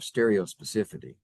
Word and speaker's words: stereospecificity: We're getting into a discussion here of stereospecificity. Stereospecificity. Specificity. How do you say that? Stereo specificity. Specificity. I was leaving out a syllable.